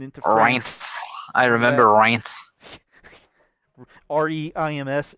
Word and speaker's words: Reims: REIMS is like France, but without the F in pronunciation. It's pronounced Reims.